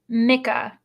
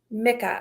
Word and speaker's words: Mika: And so it's Mika. Mika. Okay. Good to know, because I think I always say it wrong, so now I know. Mika.